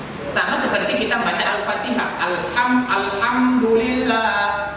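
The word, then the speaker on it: الحمد لله: Alhamdulillah, Alhamdulillah. Kalau dia hati kecil, itu maknanya segala puji. Kalau kita rubah jadi hal besar, Alhamdulillah, Alhamdulillah, itu maknanya segala kejelekan, segala keburukan, segala caci maki untukmu wahai Allah Subhanahu wa ta'ala.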